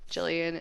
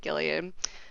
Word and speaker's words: Gillian: up our name, and my name is spelled with a G, Jillian, and people always pronounce it Gillian.